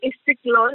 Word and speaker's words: Istiklol: So we shall definitely talk in extensive about Bengaluru playing FC Istiklol. Is that the right way, to pronounce it? Istiklol, yeah.